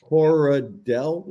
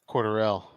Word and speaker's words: Cordarrelle: Is he that different from Coradell? Is that how you pronounce it, Patterson? How much is he making? Cordarrelle. Cordarrelle.